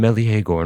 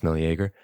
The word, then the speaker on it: Meleager: No more his royal self did live, no more his noble son, the golden Meleagor now. It's a weird way to pronounce Meleager.